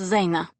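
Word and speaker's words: жена: me russian what's the word for wife it's pronounced zayna or you could call me you be maya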